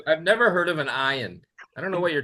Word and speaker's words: Ian: The worst worst pronunciation I ever heard was Yan and that was in Quebec because they didn't quite get the I but it's fine.